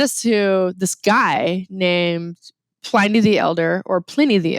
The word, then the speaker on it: Pliny: American English, it is a long I with one consonant. So that is why we call it Pliny with a long I.